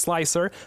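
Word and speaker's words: Slic3r: I know it's stylized so that it's pronounced slicer, but there is a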